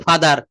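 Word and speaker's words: father: যখন আর সাউন্ড শব্দের শুরুতে থাকে তখন আর এর উচ্চারণ অবশ্যই করতে হবে। যেমন রেড, রিসাইট। কিন্তু শব্দের শেষে আর থাকলে সেই আর এর উচ্চারণ কখনোই করা যাবে না।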